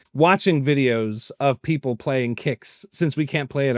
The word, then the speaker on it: Qix: Now that's not Kicks, but Kicks. Not like Kicks. I'm pronouncing it the way it's spelled, Kicks, as in Qix.